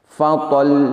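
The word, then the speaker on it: فَطَلٌّ: Perhatikan sekali lagi khusus pada lafadz fatollun ketika wakaf. Fatol. Jadi tetap sedikit ditahan untuk menyempurnakan makhrajnya.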